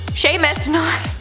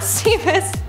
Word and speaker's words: Seamus: Seamus, pronounced Seamus, not Seamus, commented, the worst Halloween crime is giving apple slices or toothpaste instead of candy.